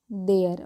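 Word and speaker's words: their: देयर वॉज no surprise to see that all ऑफ देम, थेम नहीं देम पढ़ते हैं, lifted देयर, थेयर नहीं देयर, okay, hands.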